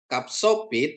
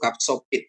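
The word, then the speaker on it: ך: Kapsopit atau KH kapsopit di akhir kata seperti Anda membunyikan kata bak ya bisa ch bisa ya transitinya KH atau CH jadi kup ya kapit dan kup.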